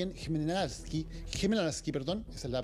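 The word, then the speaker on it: Хмельницький: Las otras 2 plantas están ubicadas cerca de donde estamos nosotros, en Rivne y en Khmelnytskyi, esa es la pronunciación correcta, en el oeste del país.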